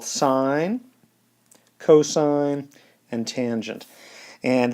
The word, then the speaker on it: sine: cosine and tangent and they're spelled a little bit different than the one we pronounce them this is spelled sin cos and tan but that is just short for sine cosine and tangent and these three trig